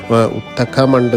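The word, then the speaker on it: Ootacamund: name വന്നിട്ട് ഉദകമണ്ഡലം എന്നാണ് ബ്രിട്ടീഷുകാരുടെ ഭരണകാലത്ത് ഉദകമണ്ഡലത്തെ അവരുടെ ഉച്ചാരണത്തിൽ ഉത്തക്കമണ്ട് എന്നാണ് വിളിച്ചത് ഇതിന്റെ ഒരു ചുരുക്കപ്പേരായിട്ടാണ് പിന്നീട് ഊട്ടി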